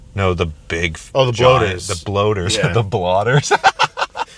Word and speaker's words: bloaters: The blotters? Clickers? No, the big... Oh, the bloaters.